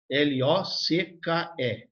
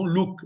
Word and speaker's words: Locke: L-O-C-K-E. Não Luke, Locke.